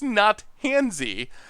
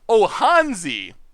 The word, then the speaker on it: Not Hansy: My name is pronounced Not Hansy. Like, Hansi. Not Hansi. Han, like in Han Solo.